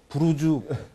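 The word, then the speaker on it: برج: 그이 두바이에 사는 외국인들이이 아랍으로 브루즈 탑이란 뜻입니다 타워란 뜻입니다이 브루즈 buj이기 때문에로 발음한 거를 우리가 그걸 따라서 지라고 이한 건데 이제 뭐 특별히 뭐 큰 문제가 없는 상 우리가 현지 발음을 해 준다고 브루즈 두바이가 맞고요 근데 이제 최근에 그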